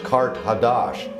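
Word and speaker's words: Qart-Ḥadasht: Carthage in the ancient language is pronounced Kart Hadash, and that means new city.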